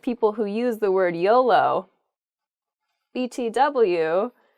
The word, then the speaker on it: YOLO: you can use btw next is really spelled y-o-l-o but it's usually read as an act as a new word it's it's pronounced yolo and it stands for you only